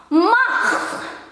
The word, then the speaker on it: macht: Lalu ini ada satu lagi, macht. A-nya panjang seperti biasa walaupun ada satu, tapi kalau di bahasa Belanda jadinya panjang. Macht. Walaupun ini C dibacanya K.